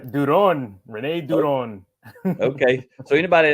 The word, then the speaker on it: Duron: you but it's it's it's donon something like that yeah that's pretty good Duron Renee Duron okay so